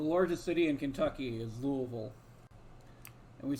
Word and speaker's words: Louisville: But imagine you come to the word Louisville or Louisville and you don't know how to pronounce the middle bit and you mumble it. That's the Kentuckian America. pronunciation of Louisville.